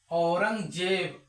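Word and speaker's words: Aurangzeb: ए को अ पढ़ेंगे जैसे ए यू आर एन जी जी ए बी इसको क्या पढ़ेंगे औरंगजेब औरंगजेब इसको कैसे लिखेंगे हिंदी में अ र इसको जी को ग पढ़ेंगे जेब नहीं औरंग जेब औरंगजेब मतलब ई ई आई वाई जी के आगे आएगा तो जी को ज पढ़ेंगे ए बाकी बाकी के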